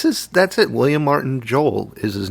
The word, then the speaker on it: Joel: Joel is his name is it Joel Jo Joel like uh Noel no I think it's Joel Billy Joel I think he didn't want two syllables so he just kept it Joel I would spell it